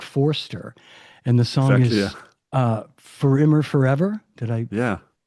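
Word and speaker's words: Für immer: artist is Mark Forster, and the song is For Immer Forever. Did I pronounce that correctly?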